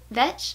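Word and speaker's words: Vetsch: I'm not quite sure she said it rhymes with wrench like Amazing Grace saved a wrench like me but wrench vinch vinch has an R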